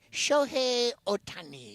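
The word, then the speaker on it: Shohei Ohtani: Show Otani.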